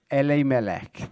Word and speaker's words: Elimelech: the hebrew testament so how should i pronounce uh elimelech elle melek there you go very different for what i said uh so so we started off with this guy ellie malek or elimelech and uh